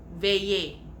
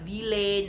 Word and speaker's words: veiller: Cajuns like to veiller, pronounced veiller, not ville, not vele, veiller.